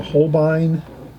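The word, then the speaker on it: Holbein: watercolor container this is about $3 it's a Hine it's made by Hine I think it's spelled a Hine is um let's see if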